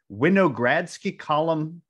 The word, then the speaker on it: Winogradsky: experiment on his desk called, and I may mispronounce this, so Aaron, jump in if I get this wrong, called a Winogradsky column, did I get yep.